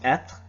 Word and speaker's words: être: So the verb to be is pronounced être, or more être, kinda. In New England and I suppose Quebec too, we don't really pronounce the R-E at the end, it's just être.